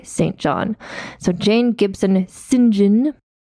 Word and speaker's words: St. John: You see how I pronounce that? That's what British people say, St. John.